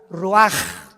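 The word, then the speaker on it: רוח: Así como suena, se pronuncia la CH en hebreo como J, Roach.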